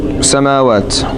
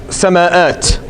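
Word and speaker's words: سماوات: You may say, why is it not sama'at? Right? But the Arabs don't speak like that. Meaning that becomes too hard to pronounce, so they'll change the hamza to a vowel just to make it easy.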